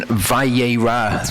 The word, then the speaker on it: Vayera: Okay, so Torah portion Vayera, that's how it's pronounced.